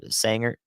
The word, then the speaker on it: Sanger: Sanger Aubry Pilot Point is that Sandra or Sanger I think I'm doing it right that's how Texans would say it right uh prosper and